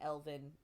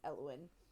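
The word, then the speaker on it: Elowen: We did realize then we've been saying her name wrong, that it wasn't Elvin, it's Eowyn. And then he pulls the pin free, and it hurts like a bitch.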